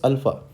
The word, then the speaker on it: Alpha: it spoken in phonetics it is spoken as a l f a h okay so this is the phonetic spelling of your a so a is called as Alpha so remember that friends